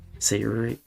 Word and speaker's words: Sayori: You're pronouncing it the English way it is actually pronounced Sayuri.